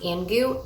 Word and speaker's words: Angoo: So this is from, I believe it's pronounced Angoo, A-N-G-O-O is the brand, Angoo. And we have a front pocket, so I'll stick a pen, and there's usually a pencil in there.